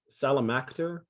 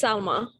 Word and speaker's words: Salma: Good afternoon, Salamakter. Is that how you pronounce the name, Miss? It's Salma. Salma, got it, Salma.